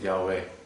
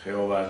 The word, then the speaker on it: Yahweh: Pues el término apropiado es Yahweh. Yahweh. Jehová es lo que dicen los testigos de Jehová, por error lo pronuncian así, pero en hebreo es latino, en español. El hebreo es Yahweh.